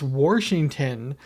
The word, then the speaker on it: Washington: saying and she's like no it's it's Washington and I'm like yeah you're putting an r in there and she's like well that's not how it's spelled and it's like then stop saying it like that mass okay so